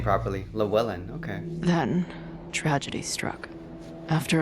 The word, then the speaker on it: Llewellyn: And I don't think I ever Yasmin's pronounced her daughter. middle name properly. Llewellyn, okay.